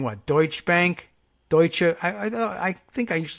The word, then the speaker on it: Deutsche Bank: players, we will say, remind ourselves this way, Deutsche Bank, heavy on the doi, and then you'll get it right. That's how you can pronounce it. So Deutsche Bank, as long as we're doing the whole thing in German.